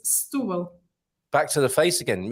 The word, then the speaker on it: Setúbal: I've heard people say Stubel. That's wrong. Yeah. All right, I guess maybe it's a specific accent that I don't know about, but. You know, normally it's Stubel. Maybe it sounds, if I'm saying it together with other things, it might sound a bit like that, but it's Stubel.